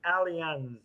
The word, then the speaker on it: Allianz: You know, is it Allianz or is it Alliance? I never. I call it Alliance, but I don't know. Alliance, Maybe it I is guess. Alliance. Alliance. I don't know how it's pronounced, but Look, as long as you have the travel insurance, that's all that matters. Yes. exactly. Now I'm gonna be putting Allianz. Repeat pronunciation. Oh my God, Well, that's and funny. EM74 says it's Allianz.